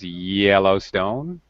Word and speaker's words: Yellowstone: Be careful of pronunciation, Eduardo. It's Yellowstone.